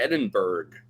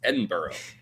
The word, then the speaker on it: Edinburgh: was like, "Oh, where's we're trying to get to Edinburg?" And everyone there is like, "You're an idiot. It's Edinburgh."